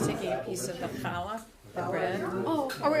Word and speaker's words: Challah: This is called Challah. Yeah, it's C-H-A-L-E. Yeah, but you don't pronounce the C.